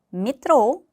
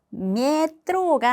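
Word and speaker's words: метро: 자, 다음 단어 메트로 미트로 메트로가 아니라 미드로이 자의 강사가 있기 때문에 앞에 야는이 발음이 납니다.이 알파벳 요는 늘 강세를 가지고 있습니다.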